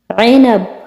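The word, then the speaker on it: عنب: তারপরে আঙ্গুর আইনাব। আইনাব আঙ্গুর, হারফেল আইন উচ্চারণ হবে, ঠিক আছে?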